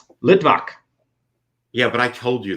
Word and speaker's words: Litvak: kyle how do you say my last name lidbach yeah but i told you that so anyways